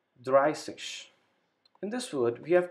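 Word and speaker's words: dreißig: word here swanseash then number 30 it's called dry sich in this word we have to use the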